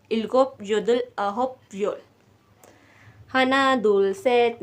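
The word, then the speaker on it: 아홉: योधुल ठीक है ना अ होप अ होप जैसे जे होप है इसी तरह अ होप ठीक है अ एच ओ पी a hope a hope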